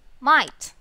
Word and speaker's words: might: word again might very good the word is might so there pronounce it again might so the letter sounds